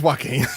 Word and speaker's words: Joaquin: No, it is Joaquin.